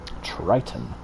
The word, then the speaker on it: Triton: trust people mixed signals triton rhymes with titan best